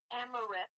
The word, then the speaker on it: amaranth: It's amaranth. A-M-A-N. Spell that, please.